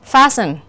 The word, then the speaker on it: fasten: Như vậy chúng ta sẽ thấy fasten, often, casual thì cái chữ cái được gạch chân không có phát âm trong những cái từ này.